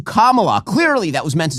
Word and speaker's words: Kamala: No, the wrong syllable. Oh my God, she called her Kamala as opposed to Kamala.